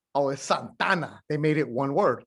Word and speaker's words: Santa Ana: santana the guitars right so they'll smash together santa ana into one santana right you say in spanish because when you say santa ana in spanish it's santa ana but when you start speaking spanish it's like oh i'm santana right so in spanish you kind of make it one word so the locals take